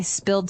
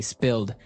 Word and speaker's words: spilled: So I spilled some milk. Okay. Spilled. Now it's pronounced differently from spell, right? That's right. It has spill. an I, spilled.